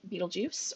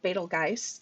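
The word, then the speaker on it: Betelgeuse: see its name there it's Beetlejuice or betelgeist there's a couple of different ways you can pronounce it um that is Arabic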